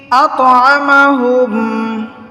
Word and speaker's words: أطعمهم: আল্লাযী, আল্লাযী আত'আমাহুম, আত কলকলা হবে, কফ ত বা জিম দাল এই 5টি হরফে জজম থাকিলে কলকলা করিয়া পড়িতে হয়।